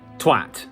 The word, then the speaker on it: twat: Twat. That's how you say twat. You say twat. But there is another pronunciation out there, I'm sure a lot of you are aware, and it goes a little bit like this.